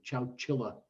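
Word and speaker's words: Chowchilla: david said he toured that's ciao chile they never did spell it right on the captioning on youtube but it's c-h-o-w-c-h-i-l-a chow chilla and uh that could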